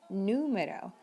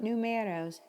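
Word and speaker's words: número: word number in spanish it's important to emphasize that sound numero not numeros numeros same with telephone telephone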